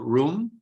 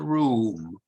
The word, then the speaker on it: room: Another word with two O's, like room, it can be pronounced in both ways. You can say the room or the room. Some people say room, some people say room. So they're both correct.